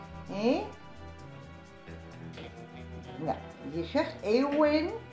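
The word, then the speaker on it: Éowyn: Ja, je zegt Eowyn en dan schrijf je een E met een schuin streepje erboven. De W van Willem. De O van Otto, de I correct en de N van Nico. En dan spreek je uit als Ewin.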